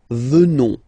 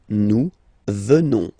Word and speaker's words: venons: ONS, remember, classic ending for nous at the present form, final S not pronounced, so you will get the sound venons, nous venons, nous venons.